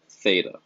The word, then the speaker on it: theta: symbol just some of the symbol is pronounced theta you'll see this throughout